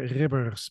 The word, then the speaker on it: Ribbers: Did I roll the R too long? I mean, it's tricky, man. It's difficult. It's Ribbers, but you know what? Like, Ribbers. I give you an A for pronunciation there.